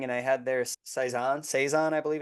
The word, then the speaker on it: Saison: I had there saizon Saison I believe it's actually pronounced I believe it's a French word um it is a dry fruity spicy Brew um and I would agree uh I like the seison it's like a farmhouse